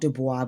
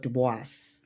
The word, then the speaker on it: Du Bois: So not duba but dubis dubis.